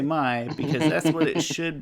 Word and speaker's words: Mai: is GAI, and yet May, I always say Mai because that's what it should be in my mind.